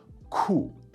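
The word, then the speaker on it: 酷: cool and in fact the word for cool in Chinese is a transliteration which is like an imitation of the English word it's borrowed straight from the language which is cool cool now for the final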